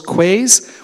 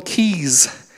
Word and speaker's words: quay: um and you'll notice that it's called K not cool Quay and when you go down to the water here we don't call those quays we call them keys so when Paul Cormier